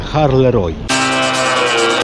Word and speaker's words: Halle: tej Belgii w miejscowości Halle Roy O tak na lotnisku w Warszawie mówili że to się wymawia Harley ale hola hola nie